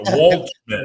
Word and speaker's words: Waldschmidt: It's tricky because it's got the D in there. It's the Waldschmidt.